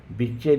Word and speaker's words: विच्चे: विच्चय लिखाएगा, लेकिन विच्चये पढ़ाएगा, ध्यान रहे इस बात का।